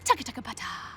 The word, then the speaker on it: TBT: short t TT htbt bracket TBT pronounced Tua you are going to